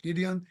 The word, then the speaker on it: Gideon: uh how do you say it in English Gideon Gideon yeah Gideon Gideon um when he was going